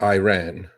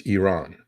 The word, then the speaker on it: Iran: the debate Mr wals it's not Iran it's Iran I mean Iran doesn't exist Iran is the way Americans say Iran it's Iran you